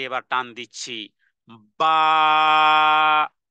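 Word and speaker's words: ba: তে এবার টান দিচ্ছি বা উচ্চারণে এক ধরনের ধাক্কা দিতে হবে বা উচ্চারণে কি করতে হবে ধাক্কা দিতে হবে এবং দুই ঠোঁট বন্ধ রেখে এরপরে বা বলতে হবে দুই ঠোঁটকে আগে একত্রিত করতে হবে তারপরে দুই হারাকা পরিমাণ টেনে যখন বলবো বা বা দুটি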